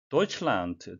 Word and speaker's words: Deutschland: Deutschland, 독일어로 독일을 의미하는데요. D는 T 발음이 나겠습니다. 영어식 발음으로서는 지금 NDT, 세 개의 자음이 겹쳐서 세 자음의 법칙이 적용돼 D는 발음을 생략하고 도이칠란트티켓이 되겠습니다.